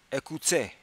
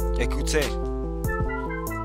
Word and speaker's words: écoutez: If you were reading it as if it were English, you would say écoutez. But because you know French, you pronounce it écoutez.